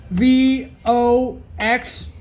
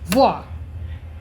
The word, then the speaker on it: voix: Okay, so this is not gonna happen if I see this letter VOX. It's not supposed to say like Vox, you know. And this comes from French, meaning voice, and it's pronounced voix.